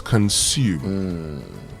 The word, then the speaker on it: consume: That S sound pronounced S and not Z. So it's consume.